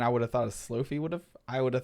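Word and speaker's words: Slofie: on iphone 11 so if you ever wanted to use the word slo-mo and selfie together it's pronounced slow fee this is kind of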